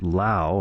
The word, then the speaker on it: Laufey: the name spelled l-a-u-f-e-y she was going to pronounce it lao i'm taking that as rhyming with cow and then fee so with that information